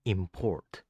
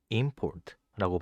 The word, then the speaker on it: import: 반대 표현인 import도 동사는 import, 명사는 import라고 발음합니다.